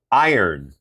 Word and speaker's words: iron: Iron. Iron. Yeah, the iron. Iron. Iron. Iron. Iron. Not end. Iron. Iron. Iron. Iron. Yes, like I earn, but iron.